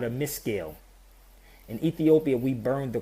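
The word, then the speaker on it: Meskel: you the history, the cross is called a miscale.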